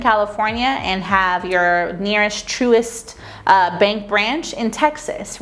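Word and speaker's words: Truist: want to talk to you all about is truest bank and that's spelled t-r-u-i-s-t this is another great bank to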